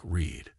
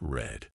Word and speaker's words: read: read in the present is pronounced like read but in the past it's red mind blown and why